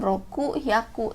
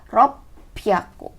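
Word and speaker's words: ろっぴゃく: 600, ini sebutannya khusus lagi, bukan roku hyaku, tapi ropyaku. Oke, diingat ya, ropyaku.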